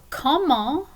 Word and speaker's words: comment: Okay, so comment, the T is silent because it's not part of careful, as we just learned.